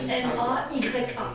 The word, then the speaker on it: Maya: Maya, ça s'écrit vraiment comme ça se prononce, M-A-Y-A, Maya, qui était d'ailleurs par hasard le nom aussi de la mère du Bouddha.